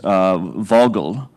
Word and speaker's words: Vogtle: unit in the U.S., Vogtle, if I've got the pronunciation right. I think it's got a strange T in there, but a silent T, that actually drove electricity